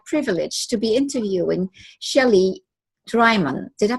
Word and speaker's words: Drymon: today it's my privilege to be interviewing Shelley drymen did I pronounce that right and forward way thank you